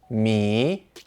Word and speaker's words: 米: It's pronounced mi, and because of this pronunciation, it is also used to mean meters.